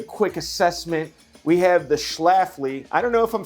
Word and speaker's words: Schlafly: our first beer what is it Matt it's Schlafly it's Schlafly we had to look up the pronunciation proper cider apple pie and we have